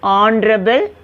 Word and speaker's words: honorable: H you should not pronounce. An honest, an honorable man.